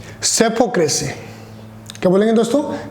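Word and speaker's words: psephocracy: अगला वर्ड है, इसे डेमोक्रेसी से मिलता जुलता ही है, दैट्स कॉल्ड द, देखो पी साइलेंट रहेगा और ये बोलेगा सेपोक्रेसी। क्या बोलेंगे दोस्तों? सेपोक्रेसी।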